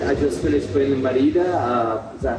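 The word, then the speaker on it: Mérida: I just finished playing in Merida. Is that how to pronounce it? Merida, but we know what you mean.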